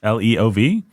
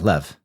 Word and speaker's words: Lev: I think so right l-e-o-v I don't actually know it might just be no it's count Lev yeah Lev all right because we we pronounce it as Leo because we're idiots Russian yeah so it's